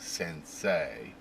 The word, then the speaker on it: sensei: So when they want A, like sensei, they use the E and the I. So E and I together is pronounced A, right?